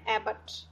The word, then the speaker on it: abbot: इसका जो प्रोनाउंसिएशन है थोड़ा सा डिफरेंट है। इसका प्रोनाउंसिएशन है एबट।